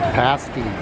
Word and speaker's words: pasty: Yes, that's how it's pronounced, pasty.